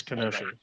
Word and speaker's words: Kenosha: or whatever is it is it pronounced kenosha this ain't the x-men yeah so so the k is not silent so it is kenosha kenosha so kenosha uh